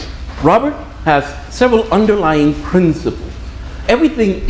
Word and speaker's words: Robert: Robert, by the way, his name is Robert. There is no S at the end.